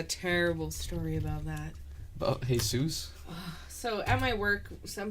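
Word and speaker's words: Jesús: kid but he it's he pronounces it Jesus so the girl keeps teacher keeps calling him hey soos and he freaks out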